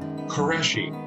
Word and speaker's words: Qureshi: know how do you say your last name qureshi qureshi yeah i i have had this conversation with